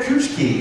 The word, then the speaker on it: Kuchiki: Oh, Rukia Kuchki. It looks like Kuchiki. That's what I thought. But we run it together, switch it together.